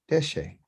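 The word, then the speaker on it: דשא: So 2 syllables, de, D-E-H, she, S-H-E-H, deshe.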